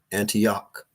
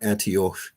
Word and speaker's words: Antioch: There's a city named after the Antiochus namesake, Antioch, right? Or Antioch, depending on how you want to pronounce this thing, right?